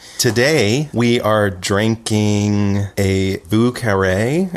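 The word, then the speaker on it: Vieux Carré: The French pronunciation would be more like Vieux Carre, but it's Vieux Carre.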